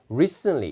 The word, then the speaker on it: recently: 그 다음에 이제 미국인들은 그 틀리 발음이 되면 T 발음은 안 해요. 그러니까 recently 이렇게 들리는 거죠.